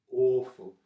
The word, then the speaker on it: awful: did you say aqua awful awful sounds like door or more it's awful okay how how can